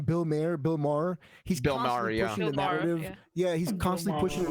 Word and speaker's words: Maher: Bill Maher.